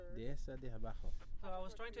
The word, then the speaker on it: Dehesa de Abajo: Dehesa de Abajo. Dehesa de Abajo.